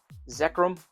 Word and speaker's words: Zekrom: Next is going to be, trying to make a pile here, Zekrom, one of the two, that's how you pronounce it, which is going to be 644.